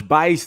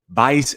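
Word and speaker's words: Buice: is my name bice the u is silent i don't know how they got vice out of b-u-i-c-e it looks like abuse but i created the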